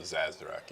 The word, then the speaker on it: Sazerac: No, we have not had an Amaro Sazerac yet.